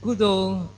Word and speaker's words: kusala: kudo means good and kudo is actually a burmese pronunciation of the word kusala ghosala is normally translated